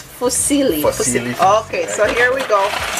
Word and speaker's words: fusilli: what's this one called fosilli for silly pasta yes excuse up one that's italian yeah that's how to pronounce it properly but silly okay it's fusilli okay so here we